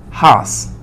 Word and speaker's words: has: Pero cuando decimos he, she o it, no se dice have, sino has. No has, con J no. Sino como, como cuando nosotros pronunciamos una H muda.